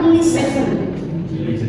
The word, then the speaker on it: listen: Ada kalau dalam bahasa Inggris beberapa kata ada kata ketika dia konsonannya jejer satu satu konsonan dia harus hilang. Jadi bacanya bukan listen tapi listen.